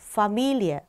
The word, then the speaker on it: Familie: Familie. 여기에서 이의 자리에 강세가 가지 않고 미 자리에 강세가 가거든요.